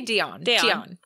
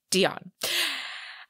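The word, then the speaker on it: d'Éon: a sounds correct um we're going to say dion dion okay it's d apostrophe eon so dion um so a celebrated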